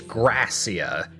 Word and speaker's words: Gracia: Okay, so it's Gracia. It was once Is how you pronounce that?